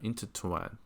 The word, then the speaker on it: intertwined: 就是第二个音节上 intertwined。